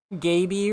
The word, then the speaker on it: Gaby: Gaby rhymes with baby.